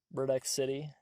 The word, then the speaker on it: Murdexity: If you just look at how it's spelled, it'd be like Murdexy. Murdexy. Murdex City. Murdex City. Like, city as in like C-I-T-Y. Maybe I could just like change the lore. I don't know. Yes, the door. It was Murdex City the entire time, but like said quickly, it's Murdex City.